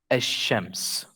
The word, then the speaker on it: الشمس: beginning of the noun, the lam sometimes is not pronounced. So it's a silent letter. When you have half of the letters, 14 of them, in the beginning of the noun, the lam becomes silent. Like the word ash-shams.